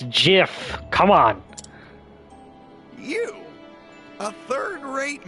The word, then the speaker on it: GIF: that too soon earlier you said it gif I believe it's pronouncing gif excuse me gif huh no it's Jiff look who it is